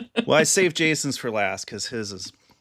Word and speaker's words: Jason: And I would say Jason. And they'd repeat it back to me. And they didn't really have a long a sound in their language. So they'd say Jackson. It's like, "No, it's it's Jason."